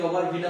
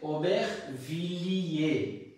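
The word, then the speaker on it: Aubervilliers: এখন দেখেন তো উচ্চারণটা কি ওভার ভিলা হয়েছে নাকি, না উচ্চারণটা হয়েছে ওবেখ ভিলিয়ে, ওবেখ ও ber vi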